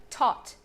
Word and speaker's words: taught: T, O, T, taught. Taught. Taught. That's it. It's super easy.